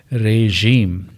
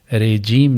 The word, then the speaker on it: regime: REGIME، ریژیم. یہ تلفظ ہوگا ژ کا، ریجیم نہیں بلکہ ریژیم.